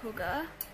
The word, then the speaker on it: hygge: stellenbosch and it's called hygge hygge you spell it not the way you say it i think it's a